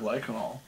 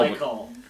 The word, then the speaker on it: glycol: So antifreeze isn't a glycanol. No. Glycol. Yeah, what the mechanic said. Glycol, yeah, the word you've been trying to pronounce, you drunken fuck.